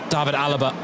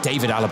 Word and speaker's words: David Alaba: Thomas Müller Philip L David Alaba excuse me David Alaba I always do that always do that with his name it's just such instinct to pronounce it the German way but for a couple